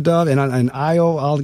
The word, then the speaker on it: Dove: The first name is. And the last name is just like that peace bird, Dove, D-O-V-E. Dove, the Afrocentric School. What happens at this point, Dr. Dove, I'll give you an opportunity as well.